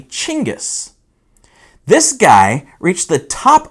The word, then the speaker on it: Genghis: you pronounce that name is it genghis is it jengus no you'd be wrong it's actually chingus this guy reached the